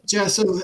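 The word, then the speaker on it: Jhasso: here for oh my name is kim and jason and uh i was kidnapped uh several days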